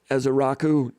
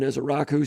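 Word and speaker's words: Ezeiruaku: It's pronounced Ezaraku, Donovan Ezaraku, 6'2", 247 senior from Williamston, New Jersey.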